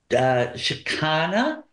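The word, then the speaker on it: Chakana: here it's sound so it's c h a k a n a shakana doc.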